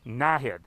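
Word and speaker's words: Naheed: It's Nahid, accent on the first syllable. Nahid. First try? Outstanding. All right, everybody. Calgary's mayor, Nahid Nenshi.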